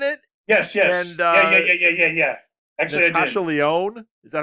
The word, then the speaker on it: Natasha Lyonne: Actually, Natasha Lyonne.